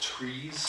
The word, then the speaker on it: TRIZ: Like if you It's actually pronounced trees. Trees, T-R-I-Z, okay, yeah.